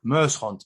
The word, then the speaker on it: Muyshondt: Well, my handle is quite complicated because it's and Muyshont, but it's spelled Muyshondt.